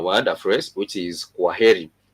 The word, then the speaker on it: kwaheri: a phrase, which is kwaheri. Kwaheri, which is K-W-A, kwaheri.